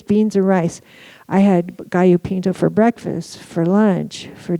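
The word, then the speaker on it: gallo pinto: We were feeling better and we ate a lot of gaopinto. This is not gallop pinto. Okay. So pronounce it correctly especially around me and Andy's mom who also speaks Spanish.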